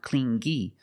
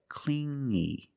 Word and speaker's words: clingy: You hear the sound m only the nasal sound here. No G, not clingy, but clingy.